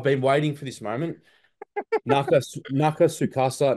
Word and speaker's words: Nakatsukasa: Nakatsukasa Nobuyoshi. That is how you pronounce it, Mitch, because I know in every interview you just never say it, but give him the respect he deserves. Nakata, Nakatsukasa.